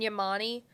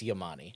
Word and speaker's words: Yamani: Is it Yamani? I asked somebody this weekend, and I think that's how you pronounce it. Because I think in our highlights, we've been saying Yaman. Oh, have we? I thought it was Yamani. Brendan Yamani. I think it's Yamani.